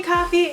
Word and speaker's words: Coffee: yourself hey everyone my name is corny coffee yes pronounced like the drink and welcome back to